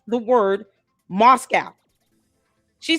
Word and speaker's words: Moscow: This girl can't even pronounce the word Moscow. She says Moscow. They won't even correct her on that. Proper English and pronunciation of terms. 2 syllables. Moscow. She's saying Moscow. Like Roscoe's.